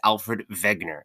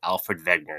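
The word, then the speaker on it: Alfred Wegener: Um he is probably the most famous geologist who ever lived and his name is Alfred Vegner. It is spelled with a W but is pronounced with a V. Alfred Vegner.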